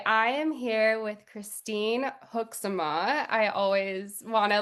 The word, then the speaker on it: Hoekzema: I am here with Christine Hooksama. I always want to like slaughter your name, but I'm glad that I pronounced it right correctly.